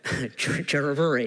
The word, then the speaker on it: Chiravuri: Murali, I'm told now, Chiravuri is how you're pronouncing it.